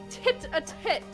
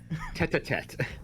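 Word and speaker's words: tête-à-tête: Tit-a-tit with everyone, you see. Nope, not how you say it. We're keeping it. Tete-a-tete.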